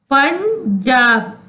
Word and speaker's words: पंजाब: पंजाब, पंजाब। तो यहाँ क्या उच्चारण हुआ उसका? इया। च छ ज झ इया होता है ना, तो आप वो